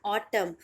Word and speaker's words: autumn: जो पतझड़ का महीना होता है उसे ही हम इंग्लिश में बोलते हैं ऑटम, और ऑटम में एन साइलेंट होता है।